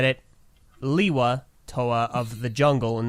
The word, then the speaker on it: Lewa: jungle in the trailer, as opposed to the official written pronunciation in G1 being Leiwa, and every other viable source of story information that was not a retrospective being Lewa, and Greg himself saying it's Lewa.